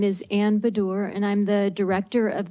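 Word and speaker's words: Baddour: and and I may be I may mispronounce badur b-a-d-d-o-u-r okay and state your name your position on the bill and your title um thank you chairman my name is Ann bedor and I'm the director of the fair Financial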